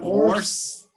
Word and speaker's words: hoarse: Have you ever heard the word horse? No. Horse? Yeah, it's funny. You pronounce it like the a animal.